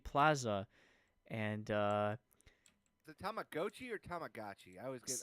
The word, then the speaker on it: Tamagotchi: So Tamagotchi Plaza and uh is it Tamagochi or Tamagotchi? I always get annoyed. Oh my goodness. It's always hard to tamagi. So in Japanese it's tamago chi because tamago is egg in Japanese and chi is like